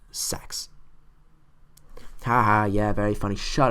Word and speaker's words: CeX: and you just say c x when you want to go there or maybe you'd pronounce it the same way I did for 14 years as C no it's pronounced sex haha yeah very funny